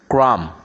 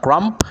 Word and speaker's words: crumb: not thump yeah thumb crumb yeah not cramp yeah doubt yeah doubts